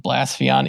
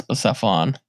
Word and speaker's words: Blacephalon: I don't know who calls it Blaspheon, even though I think the anime says Blacephalon and everybody else says Blacephalon.